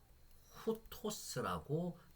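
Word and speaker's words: οὗτος: 위에가 기본이거든요 그래서 보시면은 아우가 아니죠 후 후토스라고 발음을 하셔야 되는 거고요 아우 아닙니다 하우테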